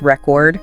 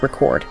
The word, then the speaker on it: record: a verb okay and usually the noun will have the stress on the first syllable and the verb will have it on the second syllable okay so like record like record player is record yes and then to record something is record exactly yeah and the example